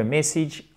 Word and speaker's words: message: Et je vous rappelle que message, on a ici l'accent tonique et là, c'est un I court.